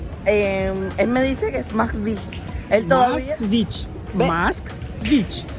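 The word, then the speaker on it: Москвич: Me dice, Moskvich. Dilo tú, por favor. Moskvich. Max. Se pronuncia Moskvich. Moskvich. Bueno, me acabo de enterar a lo que nosotros le decimos Moscovich, pero es Moskvich.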